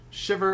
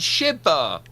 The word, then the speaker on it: Shiba: Um Shiver. Lots of things are happening, but not a lot of things. You can't even say my name properly. It's Shiba.